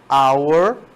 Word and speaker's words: hour: Half é um som de R, hour é um som vocálico de, né, pula justamente o H, não é pronunciado se você fala só hour, que é esse ou que vem logo em seguida.